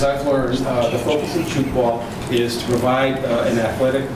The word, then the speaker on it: Tchoukball: completing their unit on Chukball. That's spelled Tchoukball. It was invented in Switzerland in the early 60s. And as I've learned, the focus of Chukball is to provide an